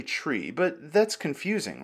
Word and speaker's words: trie: the pronunciation thing first it's based on retrieval so the pronunciation is technically tree but that's confusing right many people call it a try instead and to prevent